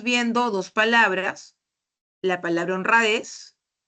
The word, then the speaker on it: honradez: Entonces, en la lámina estamos viendo dos palabras, la palabra honradez y la palabra azúcar, ¿no? Ambas palabras tienen una sílaba que lleva la mayor fuerza de voz.